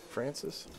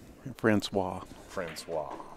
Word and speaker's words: Francois: Kiske and Francis? Francois.